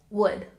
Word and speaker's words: would: learn is the base verb and remember the pronunciation would would good now let's look at the third